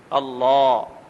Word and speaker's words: اللہ: ہیں، اور اللہ اکبر، اللہ، یہ جو لفظ اللہ ہے نا، عربی میں اس کا تلفظ کریں تو طریقہ یہ ہے کہ زبان کو مفخم کریں، موٹا کریں، اللہ، یعنی اللہ نہیں،